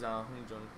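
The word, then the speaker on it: Hongjoong: Yunho and Hyungjin or Hongjun? No, I always think. No, it is Hongjun. How do you spell it?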